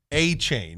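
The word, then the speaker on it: Achane: I remember Bronny actually on the show going, I remember his name is Devon A-Chain is how it's pronounced.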